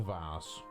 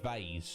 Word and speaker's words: vase: A lot of people pronounce it vase, don't they? I think that's the standard pronunciation. I was brought up calling it a vase though, so I guess I'll stick to that.